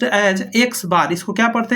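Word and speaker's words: x̄: यानी कि pronounced as X बार।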